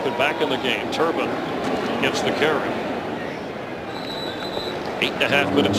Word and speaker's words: Turbin: Say it right. Again, it's Turbin.